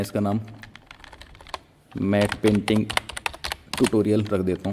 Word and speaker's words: matte: लिखा ये स्पेलिंग है मैट की। अब कुछ लोग इसको मैटे बोलते हैं, कुछ मैट बोलते हैं, तो वो आपकी मर्ज़ी, आपको क्या बोलना है। यूजुअली लोग इसे मैट पेंटिंग कहते हैं, तो ये मैं